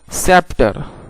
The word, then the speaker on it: scepter: सी silent, SCEPTER, सेप्टर। सेप्टर का माना होता है असाए शाही यानी शाही आसा। SCISSORS, seizures. सीजर्स का माना होता है कैंची। दोस्तों, इन लफ्ज़ों में सी साइलेंट है।